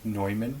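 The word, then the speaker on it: von Neumann: swear John Von noyman they call it nyman but it's spelled Newman yeah I don't know why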